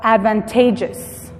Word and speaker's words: advantageous: Si se fijan, cambia la pronunciación de la palabra original. Advantage, advantageous. La E pasa de tener un sonido, la A pasa de tener un sonido corto a un sonido largo.